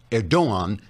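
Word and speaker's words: Erdoğan: turkey's president recep erdogan pronounced erdogan because the g is silent as in angster until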